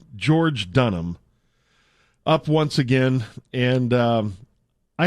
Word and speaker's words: George Dunham: Is it Joyce Durham? No, it's George Dunham.